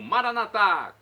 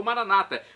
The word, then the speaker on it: Maranata: aramaico dialeto de Jesus eu clamo maranat como dizemos nós católicos ou Maranata como dizem nossos irmãos separados os evangélicos ou protestantes não importa a pronúncia o significado é o